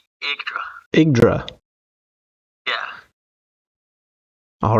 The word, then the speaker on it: Yggdra: So today we're playing, and pronunciation could be butchered on this, Yggdra Union, Will Never Fight Alone. Yeah, so it's Yggdra.